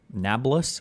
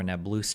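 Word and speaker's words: Nablus: Why not go to um Nablas or Nabloo today?" I've heard people pronounce it both ways. I'll call it Nablas.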